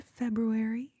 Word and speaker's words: February: All right, moving on to February. February. Even though there is an extra R in there, but people don't usually pronounce that R, right? People are like, "Oh, February."